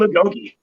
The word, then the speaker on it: agoge: gay Gogi how do you say that team Agoge yes talk about that what is that word